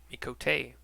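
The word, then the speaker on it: Miqo'te: to the alamigan resistance I've been pronouncing me coat mikote incorrectly this whole time I came to Oneida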